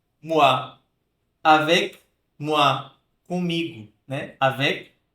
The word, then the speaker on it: moi: Um som de UA, como moi, moi, avec moi, comigo, né?